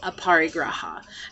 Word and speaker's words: aparigraha: it into but the name of it is aparigraha and so aparigraha has come into my life